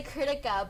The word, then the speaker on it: Kritika: It's pronounced how it looks. Well, I instinctively say Kritika, but like, has anyone pronounced like Kritika?